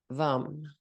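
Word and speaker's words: vam: with taste and the Mantra is vum vum v a m v v v v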